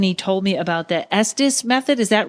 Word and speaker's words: Estes: that's the one okay I always want to say sd's because isn't it estis Park it's a lot of people I find will pronounce it that way but typically closer out west we all just kind of mumble it as this okay yeah we have